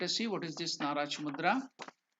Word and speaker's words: Naracha: So let us see what is this Naracha mudra. The pronunciation of it is Na-Racha. Na-Racha.